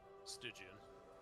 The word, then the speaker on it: Stygian: How do you pronounce that? Stygian bow? Stygian Die, got you. Stygian Like less less emphasis on like the I Emphasize it on the wrong syllable.